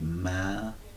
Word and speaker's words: Malachi: So notice that we would say Malachi, and it's mal, that syllable, the syllabization, my messenger, my messenger.